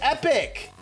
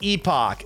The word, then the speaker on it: epoch: She said epic. That's so irritating. And yeah, it's a double P. That's on me. This is It's pronounced epoch.